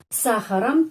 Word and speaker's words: сахаром: Сахаром, ам. Pengucapannya am karena penekanannya di sini pada huruf A. Karena itu O dibaca A, сахаром.